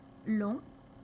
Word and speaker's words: long: adjectif est l'adjectif long avec le G final qui ne se prononce pas et on va prononcer ce g au féminin et on va ajouter le U pour obtenir la prononciation gu donc long longue et n'oubliez pas